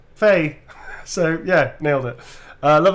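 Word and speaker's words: Fei: Faye is pronounced Faye.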